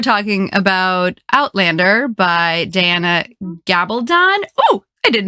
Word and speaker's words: Gabaldon: It's the L. So thank God it was you. The L really trips me up.